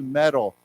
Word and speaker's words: meddle: We say to meddle. Okay, so the pronunciation is like the word, like metal, like you wear metal, M-E-D-A-L, metal. But here it's meddle, means it's a verb, to meddle.